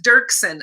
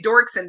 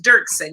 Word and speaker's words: Doerksen: wrong i know right it's dirksen a lot of people say dorkson but it's dirksen yeah dirksen okay so